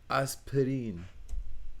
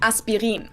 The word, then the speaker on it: Aspirin: about is the painkiller aspirin ah or aspirin aspirin that was the english pronunciation but the correct german pronunciation would actually